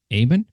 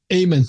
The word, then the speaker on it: Amen: doctor uh I'm gonna say it wrong again Aben amen perfect okay Dr Ayman who's uh and you